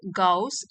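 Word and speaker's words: Gauss: ऑफ गाउस and Euler तो इनको pronounce करेंगे गाउस एंड ऑयलर तो वो कह रहे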